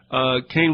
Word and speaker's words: Kahn: He pronounces it Kane, it's K-A-H-N.